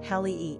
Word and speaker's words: Halle: In which case, the name would be pronounced Hallee instead of H-A-Y-Lee, as in Halle Berry.